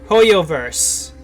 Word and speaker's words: HoYoverse: Hoyoverse.